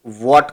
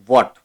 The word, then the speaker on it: Watt: की याद में इसे वॉट कहा जाता है। याद रहे इसका प्रोनाउंसिएशन जो है WATT है, राइट। एक दूसरा है वोल्ट, ये वोल्ट नहीं है, ये है वॉट, ओके।